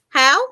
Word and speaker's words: Hough: they were kids jennifer is that hoe h-o-u-g-h how do you say that um how jennifer howe how okay because i know though and that thou so it could be how yeah you're right okay